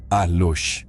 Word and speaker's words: alux: La palabra alux pronunciado alush con el plural aluxo en maya yucateco a menudo se traduce como duende o espíritu del bosque.